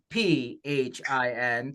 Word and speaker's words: Phin: for the people who are listening to the audio version of this, Phin is not spelled with an F. It's Phin.